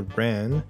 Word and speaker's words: wren: A bird whose head doesn't make a sound is the wren, because the head we are supposed to be thinking about is the head of the word, and the W is silent.'